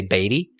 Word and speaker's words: Beatty: Now, it's B-A-T-T-Y, so I've definitely heard it pronounced, but I've heard it pronounced 500 million different ways. I'm going to say Beatty, but it might be Beatty. It might be Beatty. I don't care. It's Beatty. He was born on March